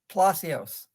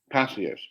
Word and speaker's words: Palacios: Palacios. Palacios.